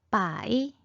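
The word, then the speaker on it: 百: 100은 빠이, 빠이, 빠이. 1000은 첸, 첸, 첸. 만은 완, 완, 완. 우리말과 굉장히 비슷하죠? 다시 한번 두 번씩 읽어볼게요. 빠이, 빠이, 첸, 첸, 완, 완.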